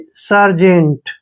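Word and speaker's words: sergeant: ठीक है जे और और ए एन का उच्चारण न हो गया और टी को ट पढ़ेंगे सर्जेंट देखि सर जेंट सर्जेंट सर्जेंट क्या होता है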